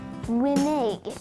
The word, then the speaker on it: renege: d-e-c-o-y decoy today's word of the day is renege spelled r-e-n-e-g-e grenade the neg has three alternate pronunciations renege minig green egg reneg is